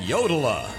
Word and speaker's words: Yoda: Chi eat your food how far away is Yoda will it take us long to get there